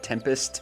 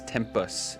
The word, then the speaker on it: Tempus: I misspoke earlier and said Tempest. It's Tempus. Tempus.